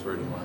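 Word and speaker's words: Verti Marte: We really just wanted to know how to pronounce it. Oh, Verdi. Yeah, it's Verdi Mart. Verdi Mart.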